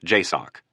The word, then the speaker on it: JSOC: Joint Special Operations Command or JSOC, pronounced JOCK.